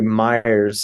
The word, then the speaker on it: Myers: And so we rebranded, and that's why Myers, like I said, it rhymes with buyers.